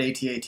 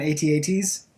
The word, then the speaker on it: AT-AT: Yeah, AT-AT, and I'm so glad you call it AT-AT and not AT-AT. I know AT-AT is the correct pronunciation, but I call them AT-ATs.